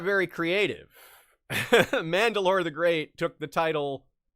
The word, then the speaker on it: Mandalore: Wheel of Time fans might hear this name as a familiar sound because it rhymes with Rand al'Thor, Mandalore.